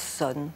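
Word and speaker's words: 선: Et Chan est la prononciation chinoise du caractère qui en japonais se prononce zen. Et en coréen, puisque c'est aussi une école qui s'est installée en Corée se prononce sonne.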